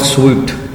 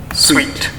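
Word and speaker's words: suite: Software सूट जो है ये इसको अगर हम इसकी प्रोनाउंसिएशन करें ना, Sweet. Software sweet, Sweet. इसको प्रोनाउंसिएट करें तो ये सॉफ्टवेयर सूट नहीं बनता बल्कि सॉफ्टवेयर स्वीट बनता है।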